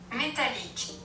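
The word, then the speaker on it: Métallique: The girl on Google say Metallique.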